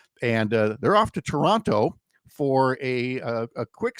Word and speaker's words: Toronto: So, give the boys a break, but first they got to go to Toronto, which is how they say don't pronounce another T.